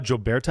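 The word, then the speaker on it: Jobarteh: It's Sona Joberta, I believe is how you say her name, but like I from Gambia, and just an excellent influence there.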